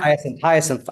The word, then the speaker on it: Hyacinth: Hyacinth. Yes, thank you. It's want to know how to pronounce it correctly.